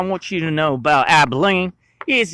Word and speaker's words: Abilene: It's pronounced Abilene.